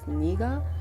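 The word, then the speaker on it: 네가: A lot of Koreans, not a lot of Koreans, but basically it's pronounced as niga because it has the same pronunciation as the other nega, and I didn't know that.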